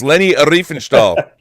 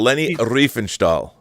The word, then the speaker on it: Leni Riefenstahl: Yeah, people were roasting me saying I've been saying her name, so it's Leni Riefenstahl. Exactly, Rob. Exactly. Yeah, but should I really know how to pronounce a Nazi propagandist's name?